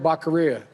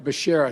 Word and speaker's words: Becerra: Service, I nominate Javier Baccaria. Javier Baccaria! It turns out he got the first name right, but the last name, holy shit. He said Javier Baccaria! You know, Javier Becerra, excuse me.